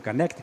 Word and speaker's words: Connecticut: Universidade de Connecticut né desculpe a pronúncia do canec os americanos falam canec né É o que eu